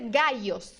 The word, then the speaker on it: gallos: porque eles têm variações existe mais de uma forma de pronunciar os dois l a primeira forma e para mim a mais conhecida é o som i Então você vai dizer gaios gaios com som de i mesmo do português G gaios perdão gaios